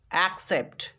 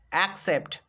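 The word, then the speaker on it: accept: যদি 2 number C এর পরে ই বসে যায় তখন কিন্তু আমাদেরকে একটা সি এর উচ্চারণ করতে হবে ক, আর একটা সি এর উচ্চারণ করতে হবে দন্ত স।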